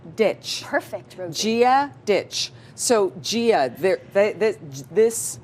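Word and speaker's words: Dia dhuit: important phrases you need to know is hello Gia ditch G ditch perfect Gia ditch so Gia there this letter here yep g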